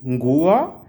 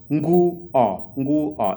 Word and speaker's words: nguo: And then the next one is nguo. Those are 2 syllables. Nguo. It's not nguo. Nguo, 2 syllables.